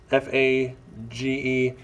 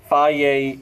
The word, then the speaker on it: Fage: You're going to get one of these Fage, that's how you pronounce it, Fage, Fage yogurts.